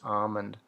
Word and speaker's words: almond: say almond or almond i always say it and say the l is silent just almond like as if it was like a h m o and d almond but i know